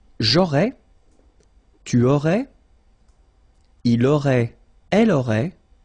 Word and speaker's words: il aurait: Il aurait, elle aurait, final T not pronounced.